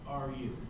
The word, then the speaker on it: Kaoru: Well, how would you pronounce that last one, Teddy? It's Kaoru.